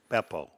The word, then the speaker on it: Beppo: Beppo. Well, why is it, listen to me, there's two P's in it. So, the accent on the E.